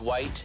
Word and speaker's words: white: voice I would say if you're pronouncing the letter H in the word white you've gone too white white voice at all